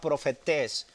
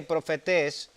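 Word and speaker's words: προφήτης: La palabra profeta es una palabra, si quieres apuntarla, la palabra profetés, con un acento en la E, profetés, que significa portavoz.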